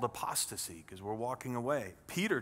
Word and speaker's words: apostasy: word if you don't know this one it's pronounced apostasy if somebody is apostate or they teach apostasy